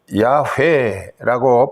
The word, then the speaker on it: 야훼: 요드해, 이 야훼라고 발음하는 것을 하나님의 이름을 어떻게 우리가 함부로 일컬을 수 있느냐.